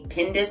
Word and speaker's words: Pindus: Inspired by prehistoric trees in, I want to say Pindus, but I could be pronouncing that wrong, Northern Greece.